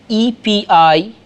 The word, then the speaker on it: epideixis: It's spelled E-P-I-D-E-I-X-I-S, epideixis, and calls such poetry of the kind that we are talking of as epideictic in nature.